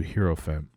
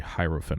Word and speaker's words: hierophant: student from initiate to herofem uh sorry hierophant I think that's how it's pronounced from lip to ear